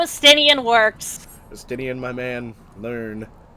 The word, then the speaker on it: Estinian: Estinian. Estidian. Remember, it's French. Estidian. If they look Elven, the name is painfully French.